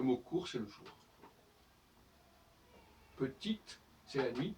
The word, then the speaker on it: petit: Petite, c'est la nuit. Petit, où on masque le T, où le E disparaît, et quand le E disparaît, ça veut dire que le T ne doit pas se prononcer.